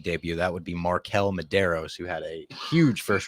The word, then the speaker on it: Medeiros: Medeiros.